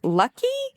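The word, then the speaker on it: Luckey: Palmer oh should have looked up how to pronounce this beforehand lucky not ly right um but anyway Palmer is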